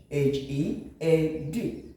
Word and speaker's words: head: Another one, remove the first D, change it to edge, HEAD.